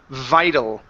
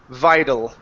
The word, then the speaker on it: vital: next one here is vital switch this T to a flap T sound vital vital one more time